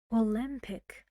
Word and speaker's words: Olympic: the fast syllable minutes Olympic Olympic how many a sounds to Olympic how many syllables Olympic three where's the stress Lim Olympic okay they just got